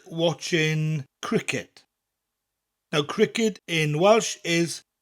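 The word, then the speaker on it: criced: Cricket. Spelt C-R-I-C-E-D. So we don't have the letter K in Welsh. But this K sound that we get from the K in cricket, In Welsh, it comes from that hard C sound.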